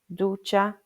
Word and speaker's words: ducha: So it's a ch sound like in cheese, coche, ducha, fecha, and the name is che.